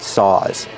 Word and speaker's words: saw: hardware store looking at saws these are saws one saw two saws pronunciation make the sound a like call and ball back here saw a a one saw